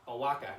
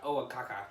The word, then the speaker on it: Oaxaca: Owaka, not Oaxaca, or whatever I said. Oaxaca. Oaxaca. Owaka. It's That's Owaka. right. Owaka. The X is silent.